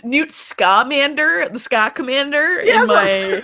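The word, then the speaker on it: Newt Scamander: tell me you said as I is it pronounced that way n scander though buddy I've only read it it's new scamander the Scott commander in my Harry potteric it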